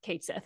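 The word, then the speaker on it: Cait Sith: at me folks squarex confirmed that it is pronounced at least in the game K Sith it was uh first first of all thank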